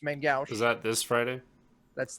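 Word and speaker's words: main-gauche: adventure that's in uh as it's pronounced by all the cool kids main gucci but it's main gauche is that this friday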